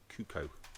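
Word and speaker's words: Cuoco: Kaylee, how do you pronounce her surname? Kuko.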